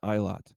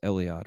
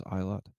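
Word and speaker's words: Eilat: at uh one of Israel's ports uh in iot it's also pronounced Elliot but I believe the pron correct pronunciation is iot that's spelled EI l a t so revenues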